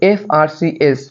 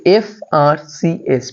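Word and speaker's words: FRCS: যেমন এখানে আছে এফআরসিএস, প্রত্যেকটির মাঝখানে ডট আছে, সুতরাং এটিকে একসাথে উচ্চারণ করা যাবে না।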